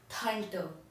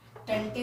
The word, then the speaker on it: Tante: आंटी को हम German में कहते हैं थंटर, TANTE। इसे टंटे मत प्रोनाउंस करेगा, थंटर।